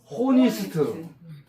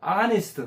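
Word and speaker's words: honest: 그냥 우리가 그냥 첫자들을 읽으려면 잘못하면 호니스트 호네스트 이렇게 읽고 있었어요. 근데 엣치가 발음 안 나와서 이거를 사일런스라. 무음이라 그래. 호니스트 안 하고 아스트 따라서 하세요.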